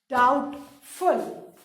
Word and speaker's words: doubtful: The first word is unsure, and the word from the story which means the same is doubtful. D-O-U-B-T-F-U-L. In doubtful, students, the pronunciation of B is silent.